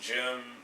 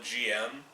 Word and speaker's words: GM: I can never figure out how to pronounce that, because obviously it's just 2 letters, GM, Gundam mass-produced, but the Japanese pronounce it Gym, the English dubs fairly reliably call it GM.